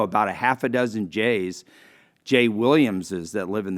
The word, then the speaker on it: Gex: is apparently down here my name g-e-x that's pronounced J it is an Old Kentucky name the first J family was appeared in the 1810 census up in Carrollton there was a Civil War battle at Jay's Landing up where the Markland Dam crosses the Ohio River if I say I've got an unusual name spelled gex and pronounced J up in Carroll County